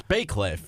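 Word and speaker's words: Bacliff: Like, somebody was like, oh, this is how you say Bay Cliff, and spelled it that way, and they forgot the Y.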